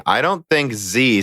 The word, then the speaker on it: Xe: my videos, reminded me, Intel XE is set as individual letters, XE as in X to the power of E. I don't think Z sounds better.